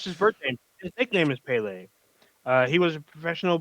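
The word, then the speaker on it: Pelé: and then last we have uh I believe it's pronounced Pele um I can't speak Portuguese so I believe it's pronounced Pele uh could we put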